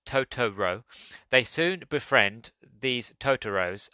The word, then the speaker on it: Totoro: is inhabited by magical creatures called totoros pronounced tooro they soon befriend these